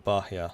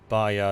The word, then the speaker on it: Bahia: Bahia is pronounced without the H.